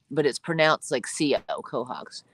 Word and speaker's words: quahogs: down here that I do like quahogs it's pronounced quahogs thank you Michelle it's all mine yeah yep